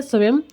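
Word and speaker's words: SWAYAM: है यह समय स्वयं इंग्लिश में इसको बोलते हैं स्वयं स्पेलिंग आती है इसकी एस डब्लू ए वाई ए एम तो इसकी फुल फॉर्म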